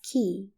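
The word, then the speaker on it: كِ: for feminine singular and it's pronounced as Ki and represented by the letter K with kesra an example for it your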